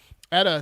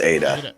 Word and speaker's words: eta: nothing fest but anyways edda the seventh letter in the greek alphabet no it's pronounced it's pronounced eta oh yeah i should